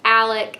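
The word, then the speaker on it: Alik: and her best friend alec i'm pretty sure that's how you say his name it's spelled a l i k so i feel like that makes sense but i'm never sure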